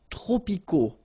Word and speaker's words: tropicaux: Les climats tropicaux. Final X not pronounced.